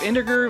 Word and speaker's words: integer: answer capacity restraints of integer values in an 8-bit system is that a hard g we got there integer right enter gear sorry the